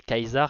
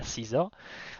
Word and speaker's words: Caesar: faux quoi, parce que si tu lis vraiment le C, le A, le E, le S, le A et le R, ça peut faire Kaiser et pas Caesar.